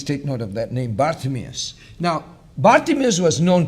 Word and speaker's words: Bartimaeus: Mia's so please take note of that named Bartimaeus now Bart amis was known to mark mark